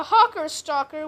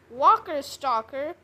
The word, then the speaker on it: Hawker Stalker: We have the world stomper, a whale sharksaurus, a a hawker stalker, which I accidentally pronounced walker stalker.